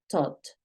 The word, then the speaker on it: thought: es un verbo irregular thought I thought thought I thought thought porque es una th thought y la gh no suena pilas con los sonidos